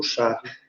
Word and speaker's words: Charles: O Charles, sem o S na pronúncia, como o francês diz.